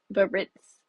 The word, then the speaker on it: Biarritz: Is it Baritz? Biarritz. Biarritz.